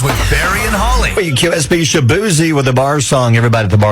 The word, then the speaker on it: Shaboozey: Now, his name on radio is with Shaboozey, which tells you to say Shabuzi.